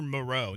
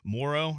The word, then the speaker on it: Moreau: They say it weird, too. Did you notice that? Morrow or something like that instead of Moreau? Yeah. Like Morrow. Is that how you say it? That's how Joe Buck was saying it. That's probably right.